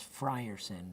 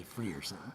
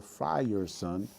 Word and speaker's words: Frierson: talked about this like your name is Frierson but here in Germany they tend to say free yourself yeah exactly because back